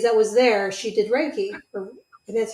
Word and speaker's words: Reiki: of the ladies that was there she did Reiki and that's how you pronounce it and I had a migraine that